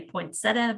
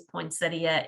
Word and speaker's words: poinsettia: name poinsettia from um here in kentucky a lot of us just say poinsettia but the correct way to say it is poinsettia and it is named